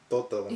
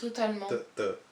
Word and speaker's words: totalement: No, we pronounce the T.